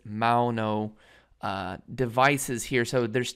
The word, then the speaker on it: Maono: um you know again this is the m-a-o-n-o i believe it's mauno uh devices here so